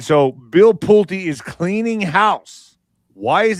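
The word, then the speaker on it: Pulte: Yeah, Pulti. Pulti, okay. Bill I got it right. Oh my gosh. All right. So, Bill Pulti is cleaning house.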